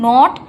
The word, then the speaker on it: gnawed: এই যে নট, GNAWED, এই নট মানে হচ্ছে কুটকুট করে কাটা। তো এখানটায় কিন্তু জি এর উচ্চারণটা হবে না, নট উচ্চারণ করতে হবে, ঠিক আছে?